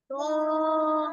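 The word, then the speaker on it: ط: দেখো ত বলো ত ত এটা কি মোটা হরফ দুই ঠোঁট গোল করে উচ্চারণ করো ত ত জোরে বলো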